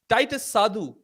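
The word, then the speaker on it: Titas Sadhu: one last topic uh Titus sadu I'm told that's how you pronounce the name where Harman prit is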